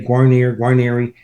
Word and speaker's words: Guarnere: My cousins say Guarnere. So it sounds French. People think it was French, but no, it's Italian.